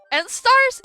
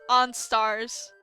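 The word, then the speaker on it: Enstars: settings yesterday it's okay end Stars it's not end star it's supposed to be pronounced on Stars yes but I don't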